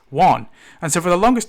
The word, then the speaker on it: Juan: But when I saw his name, I would say, "Oh, how are you doing, Jan?" He goes, "Why did you call me Jan? You know, it's pronounced Juan."